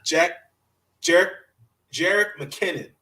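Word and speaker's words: Jerick McKinnon: I gotta give this what's his name, McKenna Jarek McKinnon.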